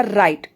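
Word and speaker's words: right: Next है हमारा राइट। Spelling है आर आई जी एच टी।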